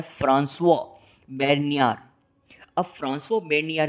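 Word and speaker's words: François Bernier: ये फ्रेंच थे, तो ये नाम फ्रेंच हुआ, तो इसका फ्रेंच लैंग्वेज में प्रोनाउंसिएशन होता है फ्रांसवा बेर्नियर।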